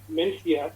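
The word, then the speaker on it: Mencía: variety called vencia or mencia as it's pronounced in spanish and again it's an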